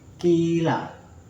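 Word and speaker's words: قيل: Jadi bacanya itu dua harokat.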